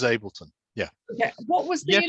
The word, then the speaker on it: Ableton: how you pronounce it ableton yeah it's fine unless you're german if you're german you pronounce it entirely differently everyone else in the world pronounces ableton uh but the germans of course pronounce it uh uh differently but uh it's known as ableton yeah yeah what was